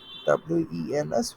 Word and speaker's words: Wednesday: তারপর Wednesday become Wednesday যেটা বলি বাংলায়, Wednesday. Wednesday জায়গায় we have to say Wednesday. Wednesday, right? WENS, Wednesday.